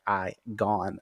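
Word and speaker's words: Eyghon: 𝐼𝒔𝒊𝒏 is pronounced I gone, like I am gone, like I've left.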